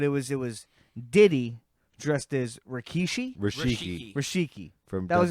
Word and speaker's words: Rikishi: Rikishi.